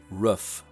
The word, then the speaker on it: roof: it's not crick how about saying roof as roof in my 2020 survey only about 20 percent of utahns claimed the roof pronunciation and that rendering was a bit more